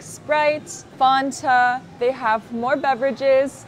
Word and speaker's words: Fanta: Fanta not in America no American would ever say Fanta it's pronounced Fanta Fanta or F sometimes you don't hear the T because you have n between vowels so you'll hear Fanta or F but never Fanta not in America a lot